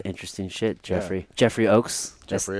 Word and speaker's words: Ochs: Jeffrey Ochs. Jeffrey Ochs.